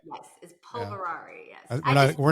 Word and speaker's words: Polverari: p viari people love it when I'm I'm pronouncing names but it's p o l v r a r i right yes is polverari yes we're not gonna say your last name